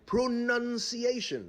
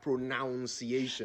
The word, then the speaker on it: pronunciation: let's start right there pronunciation not pronunciation the clue is in the spelling p-r-o-n-u-n-c-i-a-t-i-o-n pronunciation i think people are tempted to say pronunciation because the verb is pronounced so they are led to think the noun would be pronunciation you're probably right but the word is pronunciation like enunciation indeed and as you know